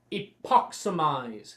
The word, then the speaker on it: Epoximize: cast our first spell the spell is pronounced epoximize say it with an epoximize but mostly very good